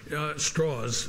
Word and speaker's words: Strauss: them he knew that Strauss straws I should pronounce his name right straws did not like Oppenheimer